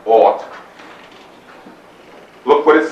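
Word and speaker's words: אות: It's spelled A-F-T, pronounced ought.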